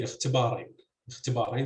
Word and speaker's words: اختبارين: So you'd say اختباراً with stress on the second CV syllable, but you would say اختبارين, so stress would be on the third syllable with the long vowel, and that could be